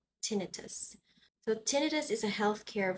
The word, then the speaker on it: tinnitus: we have tinnitus tinnitus so this is not pronounced as tinnitus this is pronounced tinnitus so tinnitus is a healthcare vocabulary in layman's